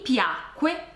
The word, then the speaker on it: piacque: Questa è la forma corretta, piacque, anche se in realtà nella pronuncia non c'è nessuna differenza tra piacque con la C e piacque senza C.